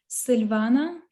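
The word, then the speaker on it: Sylwana: So actually in my mother language, it's pronounced Silvana in Polish, Silvana.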